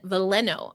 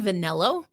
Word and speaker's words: Veleno: Has Newman on the team and Veleno. I kept saying Vanello.